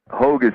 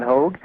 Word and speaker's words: Hogue: my site is called hog prophecy calm that's like hoga spelled like rogue with an h h o gu e